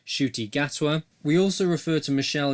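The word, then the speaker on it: Ncuti Gatwa: right at the top firstly we mispronounced the name of the actor that's been cast as the 14th doctor the actor is called shooty gatwa we also referred to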